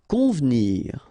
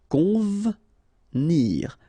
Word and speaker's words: convenir: Convenir. Okay, so the E here is not really pronounced, so first you've got this nasal, on, convenir, convenir.